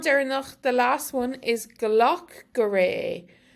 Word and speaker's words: glac go réidh é: dialects, so you could hear each individual word pronounced differently. Agus an ceann deireanach, the last one is gloch goree. Gloch goree or gloch gorege.